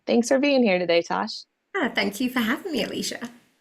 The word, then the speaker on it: Tosh: As you mentioned, my name is Tosh. It rhymes with posh.